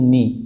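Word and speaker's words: knee: तो आप याद कर लीजिए कि इंग्लिश में जितने भी वर्ड के एन से स्टार्ट होते हैं उनमें हमेशा के साइलेंट रहता है, एंड एन से प्रोनंसिएशन स्टार्ट होता है उस वर्ड का।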